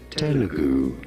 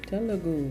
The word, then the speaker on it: Telugu: How do you go about pronouncing it? Telugu. Telugu.